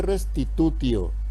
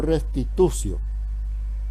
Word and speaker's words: restitutio: integrum restitución la te en latín cuando le sigue una vocal y se lee como lo hace no se dice restitutio se dice restitución bueno y el ínter